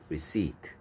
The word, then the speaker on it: receipt: 레시피, 리시트. 그 다음에 리시트 스펠링과 발음 주의하세요. 리시트 P가 소리 안 납니다. P가 무음이고요.